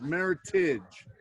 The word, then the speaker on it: Meritage: your viewers you know you pronounced it uh meritage yes did you not yes i did pronouncing pronunciation of this is meritage because eric married okay of heritage grapes from